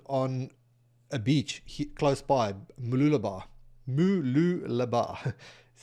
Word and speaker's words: Mooloolaba: At the time I was standing in this thought process, I was standing on a beach close by, Mooloolaba, that's how you say it.